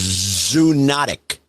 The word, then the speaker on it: zoonotic: day by the way the way it's pronounced is zoonotic zoonotic not zoonotic no zoonotic i mean you